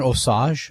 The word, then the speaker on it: Osage: Uh from Osage, I'm not sure how it's pronounced, O-S-A-G-E, Minnesota. Osage. Wasn't sure. It might have been Osage. No, it's Osage.